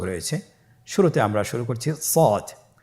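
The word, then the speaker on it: ص: শুরুতে আমরা শুরু করছি সদ। সদ হরফটি পুর হরফ। মোটা হরফ উচ্চারণ ক্ষেত্রে মোটা করে পড়তে হবে এবং উচ্চারণ করার সময় তিন আলিফ টেনে পড়তে হবে। আপনারা আমার সাথে বলুন সদ আবার বলুন সদ।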